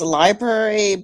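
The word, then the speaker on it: LBRY: the center one because i think it's pronounced library but it's just completely um it's it's l b r y dot tv yeah that's it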